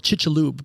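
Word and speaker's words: Chicxulub: interesting club mexico yeah it's called chichalub but it's spelled chicks a club yeah and they only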